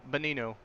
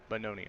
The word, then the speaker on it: Bononi: Gino Bononi, not Bonino. Bononi. Okay, I'm gonna have to get that in my mind.